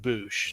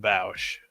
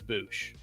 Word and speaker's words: Boushh: I'm pretty sure it's pronounced Bouch, not Bow. I like Bosch better, but I think it's Bouch, but still a very pleasant surprise.